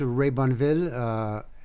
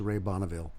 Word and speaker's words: Ray Bonneville: In French, it's Ray Bonneville. In English, it's Ray Bonneville.